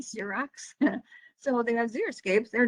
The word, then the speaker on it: Xerox: And even though it starts with an X, it's pronounced Z, Xerox.